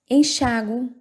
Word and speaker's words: enxágue: Enxágue, falei o U.